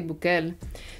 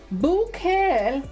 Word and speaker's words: Bukele: In Spanish, you would say Bukele.